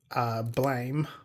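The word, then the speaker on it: Blame!: This is quite a dark science fiction sort of story, and it is the prequel to Blame, or Blam, depending on how you want to pronounce it.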